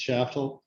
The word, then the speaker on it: Shaftel: confident about this pronunciation chef oh no now shaftel chatel i was so confident and then i messed it up does work fine i'm shaftel i live in austin